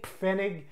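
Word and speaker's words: Pfennig: any native German speaker peas are pronounced just like the word plant Lanza pound wound penny Fenig peas are pronounced in German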